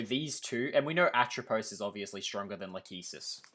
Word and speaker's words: Atropos: bro it's so eight where's the i atropus you mean atropos oh yeah by the